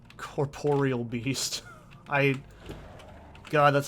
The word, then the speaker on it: Corporeal: triggers it really is whenever someone calls corporeal beasts and runescape corporal beast i'm like that's not even how it's spelled like that's not even close i know it's a